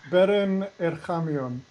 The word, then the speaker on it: Beren Erchamion: We have Baron Erenkshmyong or whatever you call it. And then we have two How do you pronounce masters. your name, Baron? Beren Erchamion.